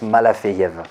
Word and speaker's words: Malafeev: Voilà, Malafeyev. F-E-E-V à la fin. Voilà, c'est ça. Et ça se prononce Malafeyev.